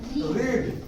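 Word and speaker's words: read: देखिए यहाँ लिखते तो है रीड, लेकिन क्या पढ़ेंगे? और रेड ऐसे ना लिखते हैं, ठीक है? लेकिन लिखेंगे ऐसे और पढ़ेंगे इसको ऐसे।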